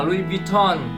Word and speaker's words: Louis Vuitton: Sau này một bạn nó bảo cho mình thì nó bảo đọc là Louis Vuitton.